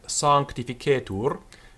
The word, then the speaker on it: sanctificetur: Notice the R at the end of the word, sanctificetur, is pronounced. We don't know exactly how the Roman R sounded. The Roman grammarians talk about it as the dog sound. So it could have been a sound at the back of the throat, or it could have been a trilled r. We really don't know exactly, but we do know it was definitely pronounced.